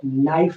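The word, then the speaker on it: knife: तो यहाँ पे के साइलेंट है, इसलिए नाइफ पढ़ेंगे और नाइफ का मतलब चाकू होगा।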